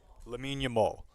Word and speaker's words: Lamine Yamal: Lamine Yamal.